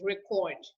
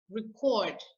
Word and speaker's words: record: on the second syllable an example of a word that can be both a noun and a verb is record record if i say record it means i'm recording something it's a verb but if i say